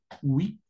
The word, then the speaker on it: huit: El 8, tal como se escribe, se pronuncia. Huit.